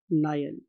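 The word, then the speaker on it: Niel: अब इसके लिए एक साइंटिस्ट था स्टूडेंट्स, उसका नाम था वॉन नायल। आप इसे नील भी बोल सकते हैं, what ever you want to pronounce, no problem at ऑल।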